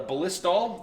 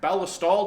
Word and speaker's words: Ballistol: for the oil afterwards the ballistol or ballastal depending on your pronunciation and for gun cleaning